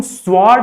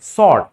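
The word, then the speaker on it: sword: भी क्या है साइलेंट अगर एस के साथ कभी अगर डब्लू आ रहा है एस के बाद तो वहां पे भी डब्लू क्या होता है साइलेंट होता है फॉर एग्जांपल तलवार की इंग्लिश देख लेते हैं ट्स स्वर्ड इसको हम स्वर्ड नहीं पढ़ते हैं सर्ड सर्ड सड सिमिलरली देर इज अ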